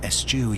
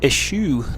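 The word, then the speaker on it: eschew: And by your honor, never estu your training. I would have pronounced it isue, not estu.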